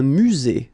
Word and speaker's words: musée: Un musée. Final not pronounced. Un musée.